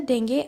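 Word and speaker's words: dengue: वो थे polio, tuberculosis, malaria, डेंगू and swine flu. वैसे ही स्पेलिंग डेंगू लिखी है बट इसकी प्रोनाउंसिएशन डेंगे होती है.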